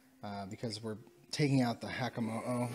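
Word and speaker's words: Hakamo-o: we're taking out the Hakamo'o. I think that's how you say it, as opposed to the Komo'o. Yeah, Hakamo'o.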